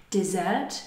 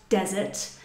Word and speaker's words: dessert: A dessert, be careful here with the, not only the spelling, but also the intonation. It's dessert, not desert.